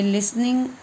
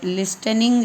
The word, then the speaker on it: listening: TREE tree, लिसनिंग LISTENING, ये लिसनिंग होता है, लेकिन अगर हम पढ़ते हैं तो ये लिस्टनिंग जैसा लगता है, लेकिन टी यहाँ पर साइलेंट होता है। इसको हम प्रोनाउंस नहीं करेंगे, इसका उच्चारण हम नहीं बोलेंगे टी का। तो लिसनिंग।